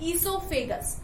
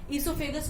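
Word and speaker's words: oesophagus: वो food pipe होती है जहां से हमारा खाना नीचे जाता है और उसको बायोलॉजिकली हम लोग बोलते हैं ईसोफेगस। इसमें ओ साइलेंट है, ठीक है। ईसोफेगस हो गया।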